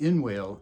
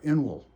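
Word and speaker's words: inwale: It's interesting that it is pronounced in-whale and not inel, or inwell.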